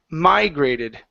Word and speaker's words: migrated: go to the word migrated the stress is here at the very beginning instead of migrated it's